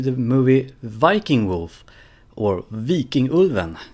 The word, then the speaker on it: Vikingulven: movie Viking wolf or V King ulvan if you're gonna pronounce it correctly so this is a